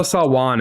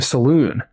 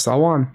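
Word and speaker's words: Salaün: I don't know the 100% pronunciation, but I would have said Tijan Salwan. So there you go. There you go. So we'll work on that. Apologies. I know Salwan is definitely the correct.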